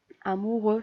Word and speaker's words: amoureux: وعندنا في بعض الحالات اكس ما كتنطقش نهائيا في لي مو اللي كيساليو ب او. داكوغ باغ اكزومبل heureux شي واحد اللي فرحان. heureux amoureux شي واحد اللي مغرم.